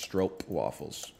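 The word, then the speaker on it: stroopwafel: on the map brother it's actually pronounced stroke waffles that's cool um it's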